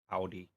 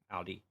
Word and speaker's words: Audi: Audi. Audi. Howdy. See, I I tried like annunciate it by saying owl like Ow, and it helps me get that pronunciation a little bit better.